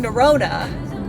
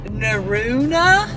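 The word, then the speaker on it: Norrøna: it's actually not pronounced neurona it's pronounced um like somebody said in French you know the word like blue like EU it's pronounced like EU so it's like naruna so the best way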